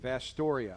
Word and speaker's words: Vasturia: And that is how you pronounce his last name, yep. Vastoria.